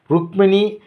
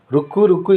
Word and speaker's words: ருக்மிணி: தவறாக உச்சரிப்பு ஆன்மீக முன்னேற்றத்திற்கு தாமதப்படுத்தும். ஒரு பெண்மணி மந்திர தீட்சை வாங்கியிருந்தாள். அவள் உத்தேசமாக பெற்ற மந்திரத்தின் ஒரு பகுதி ருக்மிணி நாதாய என்பதாகும். ஆனால் அவளோ ருக்மிணி என்று சொல்வதனால் ருக்கு ருக்கு என்றே சொல்லி வந்தாள்.